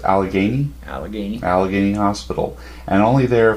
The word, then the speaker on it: Allegheny: Pittsburgh correct correct that well how do you pronounce Allegheny Allegheny Allegheny Hospital and only there for a short